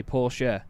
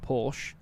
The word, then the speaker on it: Porsche: because i know that you meant to say poor share not porsche as i've been told millions of times by now but in passing i